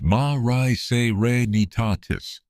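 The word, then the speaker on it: Mare Serenitatis: The landing site was in the northern part of Mari Serenitatus pronounced ma nitatis the sea of serenity one of the dark basaltic plains visible to the naked eye on the lunar surface.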